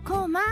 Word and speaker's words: 高麗: うんぜひこまコラと書いてコマと読みますねはい古代朝鮮